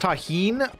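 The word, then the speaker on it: Tajín: It's pronounced taheen.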